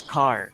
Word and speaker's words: char: c char car okay how do we pronounce it again okay so let's pronounce it as car okay okay so